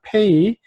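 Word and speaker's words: פ: 자, 페이, 그 다음에 점이 없으면 이름은 똑같이 페이인데, 네, 라인이 부드러운 소리로 F 발음이 나는 겁니다.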